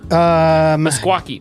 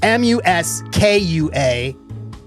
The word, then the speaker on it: Meskwaki: MUSKUAQUIE. There's no Q. MESKWAKI. Meskwaki. MES. It's spelled like meskwaki. Like it's not even. It's spelled how it sounds.